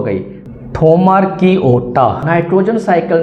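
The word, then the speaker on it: Thaumarchaeota: found in hot environment and थोमारकी ओटा कैसे pronounce करना है आपने दोबारा पढ़ें थोमारकी ओटा इनवॉल्वड इन नाइट्रोजन साइकिल डियर मिथेनोज जो मिथेन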